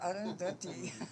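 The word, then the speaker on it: Arundhati: my name was, and I said, Arundati. I didn't know how to say the name. And he said, oh, Arundati.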